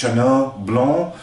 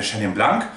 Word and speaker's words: Chenin Blanc: dem loiretal in frankreich deshalb ist auch nicht ganz richtig ausgesprochen der profi sagt jenner block also wirklich französischer akzent allerdings in südafrika kopper damit nicht so weiter ist es eher der scham lang und so eine ganz